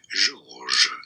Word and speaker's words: Georges: Of course, in English, this is known as George, but how do you say it in France? We say it as Georges.